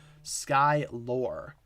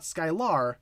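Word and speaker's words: Skylor: the first uh variation s-k-y-l-o-r sky lore not skylar but sky lore i think that's how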